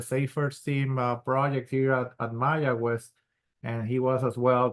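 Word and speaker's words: Mayagüez: How do you pronounce Mayaguez again, Alberto? Mayaguez. Mayaguez.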